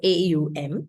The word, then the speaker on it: Om: It's if you transliterate om in English it's a as in a u u and m or m. Okay so a u m is how you say it.